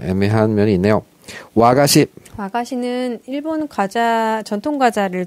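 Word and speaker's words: 和菓子: 와가시. 와가시는 일본 과자 전통 과자를 통칭하는 말이에요. 이 화자 한자 화자를 와라고 이제 발음하는데 와자가 붙은 건 다 일본 전통의 어떤 그런 거라고 생각하시면 돼요.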